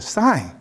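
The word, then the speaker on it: cyan: is real sadon it's it's spelled c y a n i wonder if you know it sign sign is light green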